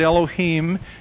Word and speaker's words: Elohim: In the beginning, Elohim, as they pronounce it, Elohim, his name really is Aman, A-H-M-A-N.